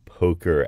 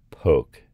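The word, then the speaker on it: poque: simple coincidence now where does the whole name Poker actually come from what game does that actually come from the name comes probably from a French game called poke and that's spelled p o qu u e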